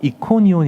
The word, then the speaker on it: 이고니온: 이동을 하게 되는 겁니다 자 도착한 곳은 이고니온 있데 헬라식 발음도 이코니온 이다라고 적혀 있습니다 오늘날은이이 도시가 코니아 도시로